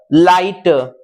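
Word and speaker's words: light: जी H silent हो जाता है, वहां जी एच का कोई उच्चारण नहीं आता।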